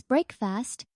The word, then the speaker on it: breakfast: Remember to stress the first syllable in breakfast. It's breakfast, not breakfast.